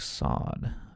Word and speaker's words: Swad: Swad is pronounced like sod.